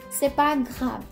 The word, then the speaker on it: c'est pas grave: The way you're gonna pronounce this is, c'est pas grave.